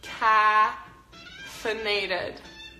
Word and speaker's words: caffeinated: caffeinated to be caffeinated when you say caffeinated you have to open your mouth pretty big same as in the word pan caffeinated also cuz caffeine caffeine